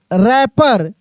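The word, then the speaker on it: wrapper: डब्ल्यू आर A double P ई आर रैपर।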